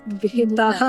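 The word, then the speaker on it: बेटा: So I just get to be like, guys, it's not beta, it's beta.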